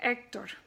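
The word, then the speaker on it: Héctor: twins that's the G H is silent so you don't pronounce that so for example the word honduras in english is under desk in spanish or the word Hector is actor I as friends II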